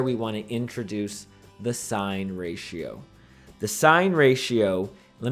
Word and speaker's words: sine: we abbreviate it SIN, so it's not going to be pronounced sin, okay? We're not in church, we don't use sins here in math. Instead, we pronounce that as sine.